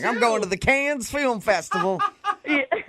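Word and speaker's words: Cannes: But what's Yeah, but the pronunciation is it con or can? It's been driving me nuts my whole life and I've never been there. Yeah, it's can.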